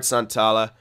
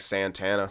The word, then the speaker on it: Santala: I'm going to make the choice and try to scout this guy, Santala. Ricard Santala. Or Santala. That's, yeah, since he's Finnish. Pronouncing it like Santana. Like, dude's Hispanic.